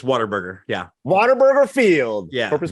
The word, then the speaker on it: Whataburger: It's Whataburger.